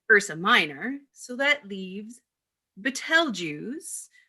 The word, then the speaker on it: Betelgeuse: Everyone knows Polaris is in Ursa Minor, so that leaves Betelgeuse, or as some people like to pronounce it, Beetlejuice, Beetlejuice, Beetlejuice.